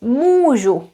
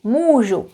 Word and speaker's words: můžu: Compare this one, úkol, that's homework, versus můžu, můžu, I can, můžu. Pronouncing the long vowels is important, making sure that we pronounce them a little bit long.